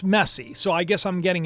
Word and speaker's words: Messi: that is pronounced Juliana Angelina says Messi is pronounced messy so I guess I'm